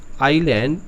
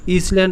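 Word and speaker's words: island: এই যে এখানে যেটা রয়েছে তোমরা দেখবে, এই যে আইল্যান্ড, এখানে হচ্ছে IS, ইসল্যান্ড তোমরা বলবে না, অনেক কথা বাচ্চারা বলে দেয় ইসল্যান্ড নয়, এটা বলে আইল্যান্ড। ঠিক আছে, এস উচ্চারণটা হবে না, সাইলেন্ট এস।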